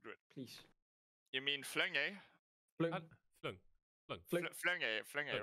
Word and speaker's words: Flink: Flung. Flunge, right? It is Flung.